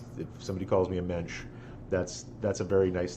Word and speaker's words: mensch: is a compliment as rhymes with the Dench and there was a famous actress Judi Dench if you're having trouble